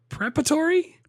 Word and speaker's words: preparatory: Yeah, but he even put a different emphasis on a different syllable, and he said like preparatory. That's how he said it. He said preparatory. He put the wrong emphasis on the wrong syllable.